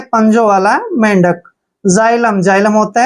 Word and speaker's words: xylem: आता है तो भी हमने x को जय पढ़ना है, तो x का उच्चारण हम यहाँ पर जय करेंगे देखिए, और y को हम यहाँ पे आई पढ़ेंगे ऐसे आई, और L E का उच्चारण ले करेंगे, M को मैं पढ़ेंगे। जाइलम, क्या पढ़ेंगे इसको? जाइलम।